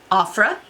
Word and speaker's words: Ofra: So, up next is from a brand I'm very familiar with, but I've only used their blush and bronzers, and that is Ofra.